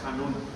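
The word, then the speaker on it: חַנּוּן: palabra ya es ahí dice canú, pero se pronuncia han, así como como conraspera, ¿no? Hanun.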